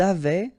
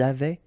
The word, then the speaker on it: avaient: Ils avaient, so look here, E-N-T, you write them, you don't pronounce them.